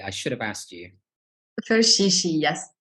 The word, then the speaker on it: Ferchichi: Ferchichi, yes. It's like a French pronunciation, not the English one.